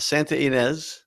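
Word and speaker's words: Santa Ynez: Is that Santa? How you say it? Santa Enz Valley. Santa like Santa Maria. Santa Enz. Yeah.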